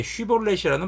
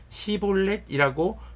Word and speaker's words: 쉬볼렛: 그에게 쉬볼렛이라는 발음을 하게 하였다. 그러나 그가 그 말을 제대로 발음하지 못하고 시볼렛이라고 발음하면 길앗 사람들이 그를 붙들어 요단강 나루터에서 죽였다.